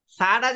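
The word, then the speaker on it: ث: সাটা যে বলবেন, জি। দেখেন, এই যে জিহ্বাটা আছে না, জি। উপরের জি। এই যে দুইটা দাঁত আছে না, এই দাঁতের সঙ্গে সঙ্গে লেগে যাবে।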